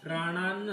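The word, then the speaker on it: प्राणान्: इमे वस्तीता युद्धे प्राणात्वा आता इथं जो अनुस्वार आहे त्याचं उच्चारण न असं होईल म होणार नाही प्राणात्वा जर म्हणजे बोलायला कठीण जात असेल प्राणान सह आधीच म्हणून घ्यायचं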